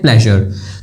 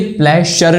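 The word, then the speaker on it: pleasure: जैसे जब हम बोलते हैं प्लेजर तो ये प्लेशर नहीं होता, ऐसे नहीं बोलते यार इसमें बड़ा प्लेशर है, वो प्रेशर वाली बात हो जाएगी।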